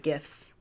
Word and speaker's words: gif: got several really good gifts i say gifts not gifs yeah cause we're team gif over here it just keep rolling because you know graphic is in fact a hard g thank you lastly we